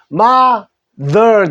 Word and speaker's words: mother: 마하가 되죠 마 자 요거 th는 느소리에 이알은 어 그래서 mother 마덜 됩니다 mother mother 하는데요 어머니도